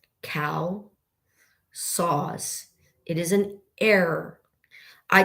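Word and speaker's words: CalSAWS: C A L S A W S cow saws.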